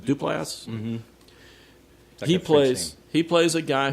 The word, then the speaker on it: Duplass: How do you pronounce his name right? Duplass.